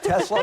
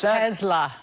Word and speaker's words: Tesla: Tesla. Tesla. Why do we say Tesla? There's no Z in there.